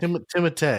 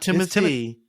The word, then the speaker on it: Timothée: star-studded cast that includes Timothée Chalamet, Oscar Isaac, Rebecca Ferguson, Zendaya, and Jason Momoa, to name a very select few. Dune follows Paul Atreides, a member of a galactic... Timothée. What? Timothée? Not Timothy.